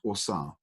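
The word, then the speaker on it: Ausar: Osar is the Kemetic word for him. So Egypt was called Kemet. The Kemet word for him was Osar. A-U-S-A-R is how we spell it today.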